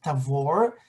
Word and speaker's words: Tabor: That is Mount Tabor, with the correct Hebrew pronunciation, Mount Tabor.